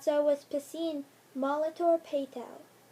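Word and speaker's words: Piscine: that not so was pacine molator Patel some thought it was P sing and that I was a sink and they wondered why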